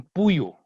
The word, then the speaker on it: puyu: Eso igual también, la pronunciación, en el centro también dicen puyu, ¿está bien? Nosotros aquí decimos fuyu en el norte, ¿sí? Y los charijaya también son de Otavalo, entonces también dicen fuyu, ¿sí?